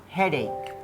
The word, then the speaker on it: headache: He, he, he, he huruf sangatlah menipu ini. Ternyata K. Headache, heq, hede, hede, hedik, hede, sakit kepala.